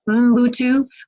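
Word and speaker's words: Ubuntu: civil rights leaders on utu philosophy which is pronounced utu but um spelled u u n Tu and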